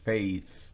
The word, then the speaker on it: faith: Así se pronuncia la TH al final y tendrá que mostrar su lengua.